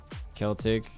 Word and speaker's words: Celtic: Celtic. Hard C.